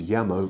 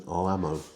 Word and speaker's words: llamo: Now, note the double L sound is y in Spanish. So where you see a double L, as you do at the beginning of the word llamo, the pronunciation is llamo rather than llamo.